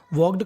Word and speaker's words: walk: देखिए मैं आपको बता दूं, अगर आपको के से पहले L लिखा मिले तो हमें L का उच्चारण नहीं करना।